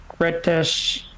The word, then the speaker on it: Gretsch: display of the 1953 Gretsch guitar owned by Elvis. Gretsch. I don't know. Gretsch. It's Gretsch, yeah. Gretsch, yeah. I mispronounced it first time.